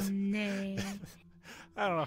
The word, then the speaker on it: Chardonnay: But yes, so that's Chardonnay. And you can look at the lettering and see, like, the last one, N-A-Y, that makes the nay sound.